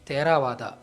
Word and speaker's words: Theravada: hence being Tamil word theravada should actually be pronounced as terawada here on we shall